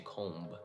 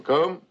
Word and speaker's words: comb: Comb, although it's very tempting to say comb. One comb. Oh, you liked your food so much, you ate it all, you didn't leave any crumbs, right?